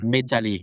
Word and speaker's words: Methalie: It might be Dian, but I think it's probably Dian like Diana, but you don't say the the H at the end. And then Medali, like metal, but with a harder T.